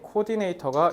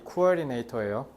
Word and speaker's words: coordinator: 발음 coordinate예요. 그러니까 너네 소위 우리나라 말에서 잘못된 콩글리시 발음인 코디네이터가 이 coordinator예요.